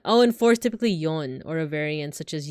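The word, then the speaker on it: 四: is always pronounced as KNE three is always pronounced as son uh oh and four is typically yon or a variant such as yo so fourth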